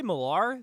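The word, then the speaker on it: Millar: or it was Mark I always say marar the way it's spelled it's not m i l l e r that's what I thought but um yeah Mark malar with uh Frank quietly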